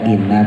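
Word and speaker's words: إِنَّ: ditahan in asnanya pendek ada Inna panjang ada Inna pendek hati-hati kalau yasinan ini innanya pendek Inna as innya monyongin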